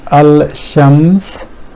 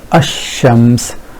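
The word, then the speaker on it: الشمس: they do is here rather than saying al-shams this which is a bit hard on tongue they ignore that and pronounce this ashams which is much more fluent way of pronouncing this word so ignoring this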